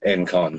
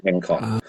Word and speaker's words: Engcon: is it's Enon is correct most people do pronounce it Enon um but it actually is the GS s it is en con so which is uh the reason well how